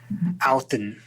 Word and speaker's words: Odin: heard you know uh Odin is um you know the D is pronounced more like a th and and there's a a heavier Accent on on the end so it's more more like outon wow and uh like